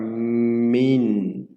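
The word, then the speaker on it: מִן: Primeiro você vai pronunciar o mem, depois o hirik e depois o nun. Fica min, né? E aqui é uma vogal consonatal.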